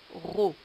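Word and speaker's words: rot: Il, ol, ri, ro, al, lo, li, la, ro. Les mots ensuite, vous avez l'or, qui est un métal précieux, un ro, qui s'écrit R-O-T, mais dont on ne prononce pas le T, un ro, un îlot,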